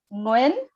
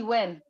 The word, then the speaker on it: Nguyen: last name so um the vietnamese way of pronouncing it is julie nguyen but you don't have to do that i know it's tough so just say julie nguyen w-e-e-o-w-i-n works julie win okay so so all